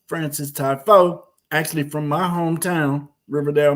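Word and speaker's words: Frances Tiafoe: Keep on saying it correctly because it's a little difficult to pronounce the way it's spelled. It's Francis Tiafoe, actually from my hometown, Riverdale, Maryland.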